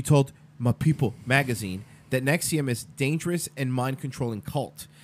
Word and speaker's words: NXIVM: face of opposition to Nexium pronounced Nexium as a v virtually